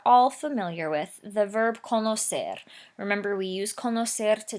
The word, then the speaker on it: conocer: Right away you know there's an issue because the original verb says conocer with a soft C sound, and right away in the yo form of the simple present indicative over there on the left, we've written conozco with the hard C sound.